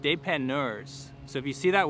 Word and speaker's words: dépanneur: So if you're in my position like that, they're called dépanneurs. So if you see that word, am I saying it right? Dépanneur. Dépanneur, like a real Québécois.